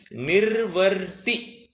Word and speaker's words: निर्वृत्ति: Okay, इसका pronunciation निर्वर्ती ऐसा करना है।